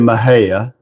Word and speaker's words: Mexia: And uh some of us may know where she lived in Maha. It's spelled Mexia. She lived in Maha, Texas.